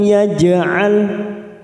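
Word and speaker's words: يَجْعَل: Walam yaj'al, lalu ada huruf jim sukun qalqalah sugro, kita pantulkan.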